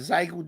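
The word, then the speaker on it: Xiegu: You know, like I have I don't know how you pronounce it. I pronounce it Zygo G90.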